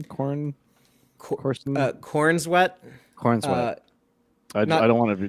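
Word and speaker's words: Corenswet: Cornswet. Cornswet. I don't want to get it wrong. Corn sweat. Corn sweat. It sounds like corn sweat, because it does, which is why I was trying not to corn say it.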